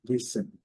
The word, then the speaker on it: listen: É o verbo escutar, atenção, listen. E deve ser mais forte. Listen, listen. Aqui, eles pronunciam sem o T e também com T. Então, fique à vontade para pronunciar.